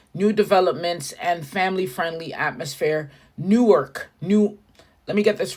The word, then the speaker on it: Newark: get this right because Newark New Jersey is different PR pronunciation from new ark Delaware and you have better say new arc it's not Newark new ark new ark home of the University